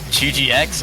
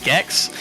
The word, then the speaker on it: GGX: the top left spot is not actually pronounced GGX or GX or any of that. It's actually Gex.